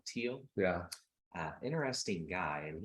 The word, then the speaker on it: Thiel: read and Peter Thiel how do I pronounce his name Dina I would probably pronounce it teal teal yeah uh interesting guy